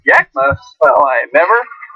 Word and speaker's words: Yakima: Pronounced Yakima?